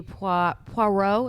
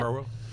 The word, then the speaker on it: Poirot: Having concluded a case, Detective Hercule Poirot, is that how you say it? Poirot.